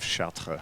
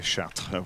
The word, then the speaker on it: Chartres: Named for the French city of Chartres. We don't say Chartres, we say Chartres.